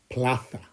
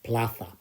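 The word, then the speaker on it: plaza: we have a square pla yeah that Zed makes a f sound Ona pla so we're going to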